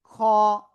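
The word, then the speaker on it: خ: আইন অক্ষরে ছিল চার আলিফ টান ঠিক আছে খ বাংলায় খ এর মত উচ্চারণ কিন্তু একটু মোটা আওয়াজে হবে শব্দের শুরুতে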